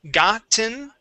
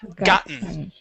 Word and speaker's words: gotten: a d sound okay so it's gotten with the t or gotten yeah so we either skip over that t or say uh gotten okay okay all right